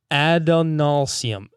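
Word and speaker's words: Adonalsium: Adonalcium.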